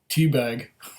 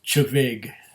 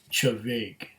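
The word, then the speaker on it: Té Bheag: This one, he first pronounced teabag, but it's really, if you know how the spelling works for Scots Gaelic, it is Chavaig. Chavaig. Chavaig.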